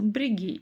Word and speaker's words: бірегей: Брегей получается, брегей, брегей. Дальше помним о том, что как пишется, так и читается, и ни одна буква не искажается. То есть, если пишется буква Е, то и читается через букву Е. Через букву мы уже прочитать не можем, или через букву И, соответственно, тоже.